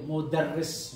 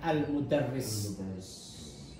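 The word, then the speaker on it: مدرس: ada motherwise siapa itu Tapi bacanya harus tahu ya itu modarris walaupun tidak ada harokatnya al-mudarris ya Allah Muhammad sudah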